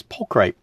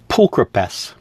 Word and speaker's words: pulchripes: wanted to find, was pulcripe. It's actually pulchripes is how it's supposed to be pronounced. Pulchripes, or pulchripes. Pulchripes. Yeah, pulchripes. Not pulcripes, not pulchripes. It's pulchripes.